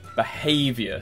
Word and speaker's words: behavior: the time alcohol first behavior second syllable consider second syllable magnetic